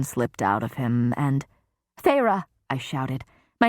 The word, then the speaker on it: Feyre: "Feyre," Amarantha said, testing my name, the taste of the 2 syllables on her tongue.